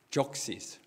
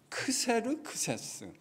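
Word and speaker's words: Xerxes: 적시스. 이거를 한국말로는 왜 그렇게 번역했는지, 크세르크세스. 발음도 어렵죠? 크세르크세스, 적시스. 하나님께서 이방 왕이었던 페르시아, 그러니까 바벨론이라고 하는 초강대국을 70년 만에 무너뜨린 왕이 바로 페르시아의 고레스 황제입니다.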